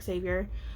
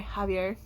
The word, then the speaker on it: Javier: because it's alone and Xavier or Javier sorry Javier because I don't know it's because it's it's spelled kind of how Xavier is it depends on how